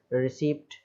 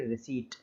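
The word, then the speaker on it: receipt: अब देखिए टी से पहले पी आ रहा है इसमें, रिसीप्ट, है ना, क्या लिखा हुआ है, रिसीप्ट। तो यहाँ पर तो पी को हम नहीं बोलेंगे, साइलेंट हो जाएगा, तो केवल पढ़ेंगे रिसीट, रसीद जो होती है उसको बोलते हैं।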